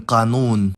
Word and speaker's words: قانون: If the word has only long vowels, then the last syllable is preferred, like in qanoon.